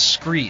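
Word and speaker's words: Skre: And my favorite and my proven gear is Scree. Scree is spelled S-K-R-E. It's kind of a play on the word from Scree Rock found at the bottom of a cliff face or something like that, and they changed the name.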